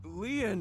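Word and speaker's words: Lien: My name Lean is spelled L I E N in French. Lean means just like means bond in Japanese.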